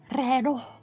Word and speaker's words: reloj: Reloj. Reloj. Reloj. He's pronouncing the J too hard.